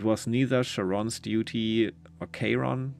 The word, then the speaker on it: Charon: It was neither Sharon's duty or Charon. Charon is like how it's pronounced, right? At least in Hades they pronounce it like that.